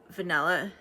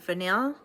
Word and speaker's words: Vanille: think, like has potential, is vanilla, Oud Vanille, or Vanille. I should stop saying vanilla. I know how to say it.